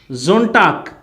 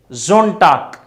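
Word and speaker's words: Sonntag: Zontag, the Sunday, Zontag. So after S we get, if we get AEIOU, then it is spelled Z.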